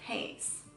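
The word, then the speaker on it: Hayes: for an alternative was haze and it's long a sound just like James and it also has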